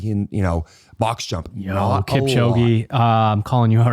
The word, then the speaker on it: Kipchoge: You talk about a runner who gets really good at running, Kipchoge is how you say his name.